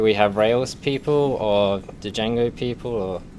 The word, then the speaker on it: Django: have rail people or Django people or I always pronounce a d accidentally so Jango yeah and rails how